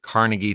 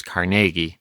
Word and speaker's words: Carnegie: ahead and get that out there it's typically pronounced Carnegie today that's how I grew up seeing it